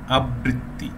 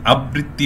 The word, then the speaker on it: আবৃত্তি: recur এই যে উচ্চারণটি রয়েছে রিকারের উচ্চারণটির বেলায় একটু খেয়াল করতে হবে যে এটি কিন্তু কখনো দ্বিত্ব হয় না, দ্বিত্ব হয় না মানে যেমন আমরা আবৃত্তি এটি বলতে গেলে অনেকেই বলেন আবৃত্তি, এটি কিন্তু সঠিক উচ্চারণ